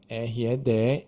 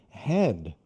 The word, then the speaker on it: red: Por exemplo, no caso da palavra red, R-E-D, é red. Agora, o que acontece quando um aluno lê red pela primeira vez? Muitas vezes essa pronúncia, por causa do português, se fosse escrito assim em português, seria head.